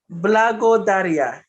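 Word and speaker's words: благодаря: Blago Daria. Excellent. Absolutely perfect. That was it. Well done. Perfect. Good job. So now you know. Blago Daria.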